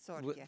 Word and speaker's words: Torchia: Well, you know, just to clarify, in Italian it's Torchia.